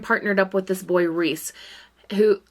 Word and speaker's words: Rhys: As Ariel finds out, she has been partnered up with this boy Reese, who his name is spelled R-H-Y-S, so like Rhysand from the Sarah J. Maas series.